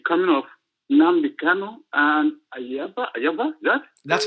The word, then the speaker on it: Ayaba: With the coming of Nnamdi Kanu and AYABA, That's right. Yeah, you pronounce his name right.